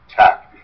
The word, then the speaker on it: TeX: T-E-X is pronounced tech. That's just a tradition.